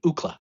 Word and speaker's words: Ookla: the UCLA campus and took UCLA and just pronounced it phonetically, Ookla, Wow.